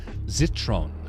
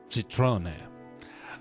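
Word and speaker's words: Zitrone: Oh, um zitron. So, uh let's see here. Citron. Um, German for lemon. It is spelled Z I T R O N E very very good.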